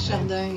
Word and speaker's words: Chardin: It's Chardin. Is that how you say it? Chardin, yeah.